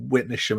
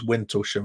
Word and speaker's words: Witnesham: There's like been times like when Alex joined us for a while and we had that moment on air when he pronounced Witnesham as Wintlesham and we just absolutely broke down laughing.